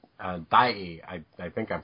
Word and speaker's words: Daiei: Yeah, he was done by a rival film company called Daiei. I think I'm pronouncing that right.